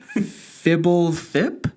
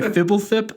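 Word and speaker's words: Fblthp: How do you pronounce this? Do you want to take a crack at it? Fibblethip?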